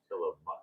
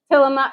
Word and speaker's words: Tillamook: working at saying it's Tillamook. Tillamook.